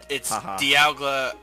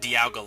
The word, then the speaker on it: Dialga: I think it's Dialga because it's like Dialga. time dial, you know. It's Dialga, not Dialga like I pronounce it, because I pronounce things dumb.